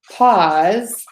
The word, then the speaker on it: paws: try that again so the word pause like to take a short break and pause like the feet of a dog those are both pronounced pause so both of those words are pronounced the same pause for a second